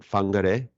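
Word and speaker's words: Whangārei: And just before we hit the record button, you were teaching me how to pronounce the place you're from, and I believe is it Whangarei?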